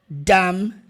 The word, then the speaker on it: dumb: traduzir essa coisa idiota você não vai pronunciar a letra b não f silencioso literalmente então It's this Dumb